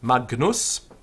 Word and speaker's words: Magnus: Now we have an argument a little bit about how to pronounce this G. Alan says that the G sound is a sound like in hangrail. So it's a hung sound. But it's perfectly okay just to do a sort of a hard G.